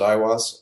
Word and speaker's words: Aiwass: I guess he used to talk about communicating with Aiwass. Is that who he would consider his? Yeah. We pronounce it Aiwass, and it's the entity that he apparently first